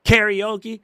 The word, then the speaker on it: karaoke: It ain't karaoke. How the you come up with karaoke? It's k a r a. That is not krie. That's ka. Right.